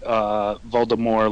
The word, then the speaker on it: Voldemort: Yeah, like in the early first movies, audiobook, they say that Voldemort like the French, but after the movie said Voldemort, it was like done. Like that was the pronunciation.